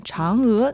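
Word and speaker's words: Chang'e: pas notre environnement radioactif la prononciation en chinois de Chang s'écrit presque de la même façon que le mot anglais change une raison de plus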